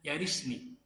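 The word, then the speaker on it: يرثني: Ya kalau disebut jazm itu pasti disukun. Karena alamat utama i'rab jazm itu adalah sukun. Ada yang membuang nun, tapi alamat pertamanya adalah sukun, bil jazmi. Maka bacanya yarisni.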